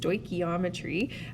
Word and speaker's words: stoichiometry: own here before i tell you so it's pronounced stoichiometry for short sometimes you'll just see stoic and